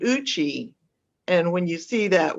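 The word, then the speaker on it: Eucha: e-u-c-h-a but it's a cherokee word and it's pronounced uchi and so i grew up in that area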